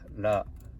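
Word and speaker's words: ら: And the next one, R, is a little bit different from English sound. So it's like la, ri, ru, re, ro. It sounds more like English L sound, but I think it's like between R and L.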